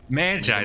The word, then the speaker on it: Magi: Magi, that's how you pronounce it.